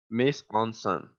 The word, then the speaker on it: mise en scène: Es un término francés, se escribe M-I-S-E, Pero lo guión, tienes que decir con voz de croissant. ahí voy, es M-I-S-E-N-S-C-E-N-E, mise en scène, que si lo queremos